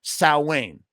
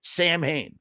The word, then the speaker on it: Samhain: one of them ever said sa Wayne not not one they all go Sam Hayne why because that's how they say it Glenn himself call he'll be like so how you pronounce it Glenn well technically it's Sam sa but he he says it's Sam Hayne they all call it Sam Hayne who cares oh you're